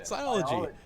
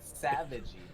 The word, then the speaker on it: Psilogy: Savage, Mitch, are you mispronouncing the word it's savage? It's PSILOGY. Oh, okay, gotcha. Siology. Cool. I thought you said savagey.